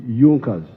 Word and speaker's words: Junkers: It is written Junkers, but they pronounced pronounce it Junkers.